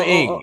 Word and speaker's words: Ng: One thing I'm known for on this show is fucking up names, but I think it's Kim Ning. Is that how you pronounce her last name? Kim Ing. Yeah, there you go.